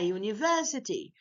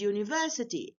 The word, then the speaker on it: university: which is a consonant we didn't pronounce u here as a vowel Ah that's why we